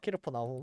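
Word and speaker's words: כפר נחום: 갑나움에 우리 말로는 갑버나움이라고 하지만 이제 본토 발음으로론 캐르퍼나이라고 합니다. 캐르퍼나.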